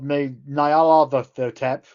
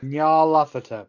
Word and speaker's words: Nyarlathotep: Nyarlathotep. Nyarlathotep. Nyarlathotep. Nyarlathotep. Lathotep. Oh, for fuck's sake, now you're making it more complicated. The TH isn't a sound.